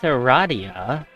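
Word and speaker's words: Aradia: It is pronounced Radia.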